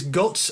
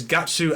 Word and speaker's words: Guts: griffison that's funny because character names is guts and griffith yeah but the Japanese pronounces gatsu and gurifisu and so early fan